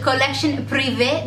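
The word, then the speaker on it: Collection Privée: And these are the Colorish Collection Privee de L'Oreal.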